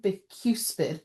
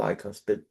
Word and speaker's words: bicuspid: The fog had a rotten busid. How' you pronounce it? Bicuspid.